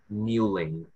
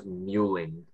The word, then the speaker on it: mewling: yes what's the word muelling can I have the definition please to cry weekly as a baby or young child wine oh no the word is mewling and I would believe that this word has